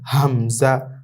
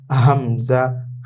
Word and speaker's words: হামজা: এই দুটো অক্ষর আমরা যখনই দেখব তখন আমরা ইজিভাবে একেবারে সহজে তাড়াতাড়ি উচ্চারণ করব। আলিফ আলিফ আলিফ আলিফ এভাবে এটাও আমরা তাড়াতাড়ি পড়বো। হামজা হামজা হামজা হামজা। এভাবে আমরা তাড়াতাড়ি করে পড়বো।